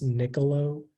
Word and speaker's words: nicolo: all the information uh the word is just pronounced Nicolo it's a noun and